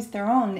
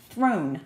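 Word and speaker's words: Theron: actually I learned recently it's not Charlie Theon sh's Throne we're all pronouncing completely wrong at this you show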